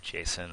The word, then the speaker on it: JSON: uh say hi to some people pronounce it jason i don't know what